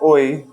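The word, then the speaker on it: ঐ: And this is pronounced like oi, even though it's AI.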